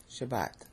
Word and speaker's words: Shabbat: See, Shabbat. It's a two-syllable word.